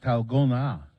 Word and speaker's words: dalgona: d-a-l-g-o-n-a okay but it is it's Korean it's pronounced talgona okay we don't speak Korean in my house